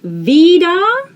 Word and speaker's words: wieder: as two separate words we see that e here it's in the end like it's the end of the word vida vida so you vocalize the last r vida w in the